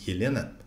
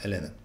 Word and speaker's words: Елена: Болгарское «е» более твердое, звучит как «э». Не «Елена», а «Элена». «Ще» произносится как «шета».